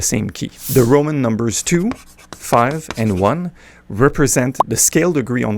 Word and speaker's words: 2-5-1: Well, the 25 and 1, and yes, that's how it's pronounced. 25 and 1, not I, I vi, is the progression that appears in virtually all of the standards.